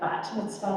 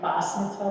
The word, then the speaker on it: bat mitzvah: Bat mitzvah like talit, and bas mitzvah like talis. It's just a matter of pronunciation. The Ashkenazi form, the East European form is an S at the end.